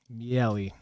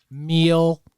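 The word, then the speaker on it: Miele: I'd probably go Italian my last name means honey in Italian that's fun meell but no one knows how to say it they're like meal uh Michael meal to the at the airport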